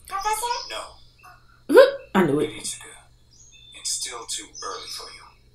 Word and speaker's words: Kiritsugu: Big idea to call me. Well, yeah, because you're see, she butchered his name too. right. Kiritsugu.